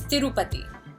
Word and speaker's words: Tirupati: And it's Tirupati, like the temple. Not Tirupati, not Tirupati, not Tirupati, Tirupati.